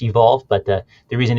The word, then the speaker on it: EVQLV: it's it's evq lv calm so that's it's pronounced evolve but the reason it's evq olv it's the